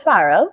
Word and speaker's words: Farrell: your name is um my family says farell yeah and you say